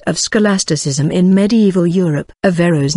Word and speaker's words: Averroës: Averroës' name is also seen as Averroës or Averroës, indicating that the O and the E form separate syllables.